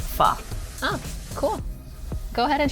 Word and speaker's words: pho: Is it like pho, pho, pho? You know? It's pronounced like pho.